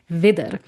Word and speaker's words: Widder: It's not the exact same words, like Wiedergeburt is with IE and Wieder is like with a double D, but the pronunciation, like the sound of it sounds very, very similar.